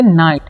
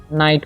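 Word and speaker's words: night: ठीक है, इसे पढ़ेंगे नाइट। ठीक है, यहाँ पर देखिए GH जो है साइलेंट रहता है, तो इसे पढ़ते हैं हम नाइट पढ़ते हैं।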